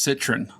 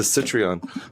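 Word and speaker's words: Citroën: is an ugly car I think it's pronounced Citron Citron yeah like citrus citr okay okay the citreon you're saying okay I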